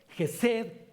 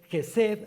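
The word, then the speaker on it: חֶסֶד: Bueno, misericordia viene del hebreo gesed, con K antes, gesed, acento en la primera E.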